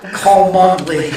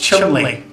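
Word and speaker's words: Cholmondeley: Cole Mundley. I had no idea. It's actually pronounced Chumley.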